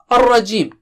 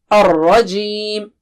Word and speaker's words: الرَّجِيمِ: Ar-Rajim. Minas Shaitanir Rajim. Ra is thick here.